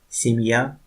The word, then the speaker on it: семья: Soft sign divides the word. Next example. Семья, семя, мья, семья, мя, семя. Семья means family.